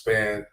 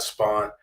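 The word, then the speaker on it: Spann: Can you please tell your fellow members of the media that Deuce's name is pronounced Span, not Spawn?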